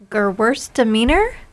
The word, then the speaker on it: Gewürztraminer: it's sparkling, and I'm going to say the name wrong, but I will try. It's Gewürztraminer.